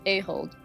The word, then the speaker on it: Ahold: Pronounced Ahold.